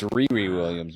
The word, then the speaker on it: Riri Williams: It's Riri Williams, by the way.